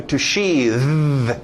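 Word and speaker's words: sheathe: Ok, aí você cria o verbo to sheath, mudando aquele TH de sheath, de sapo, para um TH de zorba.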